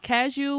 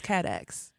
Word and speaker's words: Cadieux: Ca- Cadieux was Cadax.